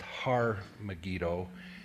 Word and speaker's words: Har Megiddo: the American term Armageddon it's Tel Megiddo and Hebrew would be pronounced har Megiddo and when I got transliterated into English it became Armageddon and we know this mostly